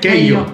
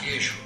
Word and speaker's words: queijo: Queijo. ¡Erro! La pronunciación igualita. Queijo.